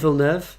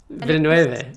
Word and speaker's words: Villeneuve: say it something like Villeneuve. Yeah. Villeneuve, but I He's French Canadian, yeah. So I think a French pronunciation is probably the closest.